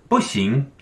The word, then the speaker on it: 不行: You would use these two characters, and this is pronounced 不行, 不行.